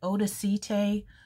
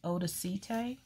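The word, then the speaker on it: Odacité: very fancy schmancy but i think that's pronounced odacite you guys let me know odacite okay so let's see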